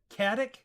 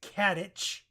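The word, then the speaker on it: Katić: okay this is one khattak okay I've been told that's Katich there's no H so I'm gonna continue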